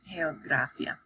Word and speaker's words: geografía: In front of an A or an O or a U or any other consonant, then it sounds like a hard G. So it's geografía.